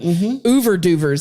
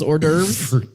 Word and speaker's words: hors d'oeuvres: Ouverduvers, as my dad calls hors d'oeuvres, because he can't pronounce it or spell Mr.